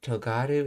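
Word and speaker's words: とがる: Let's see, togaru and tongaru are alternative pronunciations of the same verb.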